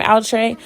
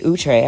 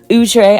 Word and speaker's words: Outre: all the current wigs from outre excuse me utre I forgot it's we've been pronouncing it wrong all these years utre I don't know if